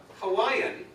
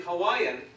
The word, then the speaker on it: Hawaii: in Maori F in Hawaiian how is how is actually say Hawaii Hawaii so W is actually V okay okay now also